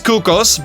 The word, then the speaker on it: Cuccos: These Cuccos, by the way, that's the proper way to say it, it's Italian.